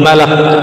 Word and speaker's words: Malak: Alamul Malak. Jadi yang pas bacanya malak ya.